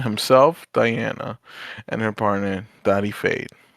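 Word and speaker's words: Dodi Fayed: Oh, you just said it in a in a different accent. That's how you say it. Uh, America. Yeah, that's actually Middle Eastern, but sure. Go ahead. No, I know. But I'm saying we're in America.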